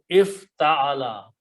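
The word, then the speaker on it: افتعل: This word is pronounced as if ta'ala.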